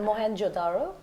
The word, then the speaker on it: Mohenjo-daro: pronounce that, no, but I'll fix it for you. That's your job. It's Mohenjo-daro.